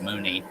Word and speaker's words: Mauney: Mooney. He's a well-known bull rider, or was. I don't know with current status. It looks like J.B. Mauney, but it's pronounced Mooney.